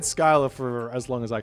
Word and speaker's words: Scylla: Sorry, there's an American pronunciation and there's an English pronunciation, and it's Scylla or Scylla, or whatever else you feel like. So exactly. And I've said Skylar for as long as